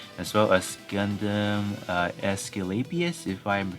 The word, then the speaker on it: Aesculapius: wanna see if i can get the right pronunciation and there you go um gundam escalapias over here so in terms of this unit